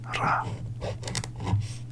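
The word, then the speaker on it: ら: here is he hi this right here is RA and you're going to learn these later on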